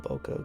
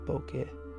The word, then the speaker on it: bokeh: to pronounce it um i'm just calling it boko cause that's the american way to pronounce it but it's actually pronounced bokeh but i don't really